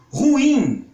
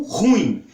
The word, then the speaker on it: ruim: Ruim é uma palavra oxítona, que muitas pessoas pronunciam como ruim, como se ela fosse uma palavra paroxítona.